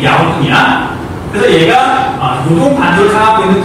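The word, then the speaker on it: 遼東: 요동의 중국 발음이 야우통이야.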